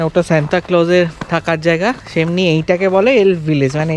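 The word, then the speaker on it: Sámi: তন্তুলা ভিলেজে এর আসছে একজন, এটা কি স্যামি? এখানে যে ট্রাইব নয় ঠিক, এখানে স্যামিদের বসবাস। স্যামি মানে নর্দার্ন ল্যাপল্যান্ডে যে জাতিটা থাকে তাদেরকে স্যামি বলা হয়। অ্যাকচুয়ালি সামি, মানে ইংলিশটা উচ্চারণ করে সামি।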